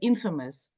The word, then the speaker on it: infamous: words that you see like there is no famous in the word Infamous there's no Kate in